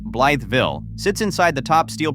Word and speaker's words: Blytheville: Number one, Mississippi County, Arkansas' Blytheville, pronounced Blytheville, sits inside the top steel producing county in the entire United States.